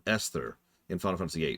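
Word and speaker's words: Esthar: They really keep referencing Esther, and it probably doesn't help that there's the city called Esther in Final Fantasy VIII, which is pronounced exactly the same, although it is spelled differently.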